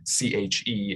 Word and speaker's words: CHE: health and the environment which we often abbreviate c-h-e and pronounce che so che che alaska